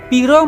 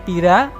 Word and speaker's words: piro: Jawa sekarang memakai bunyi vokal huruf o bahasa panginyongan gunakan a contohnya Songo diucapkan Sanga piro menjadi Pira dan Sopo jadi sapa secara fonologi dialek Banyumasan